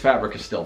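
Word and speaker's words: Faber-Castell: I never know how to pronounce that. I think it's Fabri-Castell.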